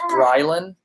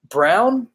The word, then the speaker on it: Brylan: Whenever I tell anybody my name is Brylan, they're always Brown? No, it's Brylan. Oh, Brian?